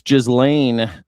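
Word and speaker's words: Ghislaine: It's Jizlane. Why does no one pronounce her namely?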